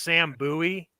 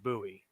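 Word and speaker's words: Sam Bowie: uh now Mike G I know this guy's pronounced Sam buoy because that's the guy that was picked before Michael Jordan and his name was pronounced buoy um oh so Lauren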